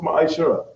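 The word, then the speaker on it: ma'aser: Means tenth in Hebrew and it's pronounced ma'ashara.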